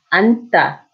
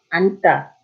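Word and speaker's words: 앉다: So in this case, you only pronounce the first one. 안다, 안다, okay?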